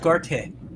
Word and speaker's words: Gareth: It's pronounced Garte. Not Garth, Garte.